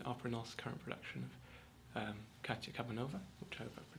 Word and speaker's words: Katya Kabanova: of Varvara in Opera North's current production of Katya Kabanova, which I hope I pronounced correctly.